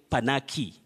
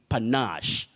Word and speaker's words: panache: of eldoret you say panache panash don't say panache and don't say panaki it's panache then lenox combo of